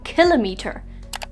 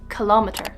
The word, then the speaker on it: kilometer: Often mispronounced as kilometer, but it's actually kilometer.